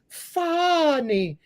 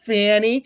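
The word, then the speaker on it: Fani: disqualified from Prosecuting Trump her name is funny not Fanny it's funny it's Kamala not CA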